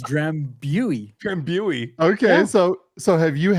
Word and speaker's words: Drambuie: And in North America and United States, it's Drambuie, and traditional pronunciation is Drambuie.